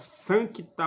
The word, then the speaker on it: Sancta: devem ser bem pronunciadas muita gente pronuncia Santa Maria Materdei é tá errado tem que pronunciar o sancta Maria Mat de então o c tem que ser bem pronunciado sanctos sanctum factum o c deve ser pronunciado então santa maria Mat